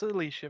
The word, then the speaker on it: Alicia: how you practically pronounced i thought it was pronounced as alice yeah it's yeah it's it's alicia vikander you know what steph